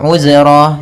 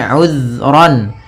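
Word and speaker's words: عذرا: Di sini uzran, hati-hati dalam pelafalan zal, usahakan di sini jangan sampai memantul, jangan uzra gitu ya, tapi uzran.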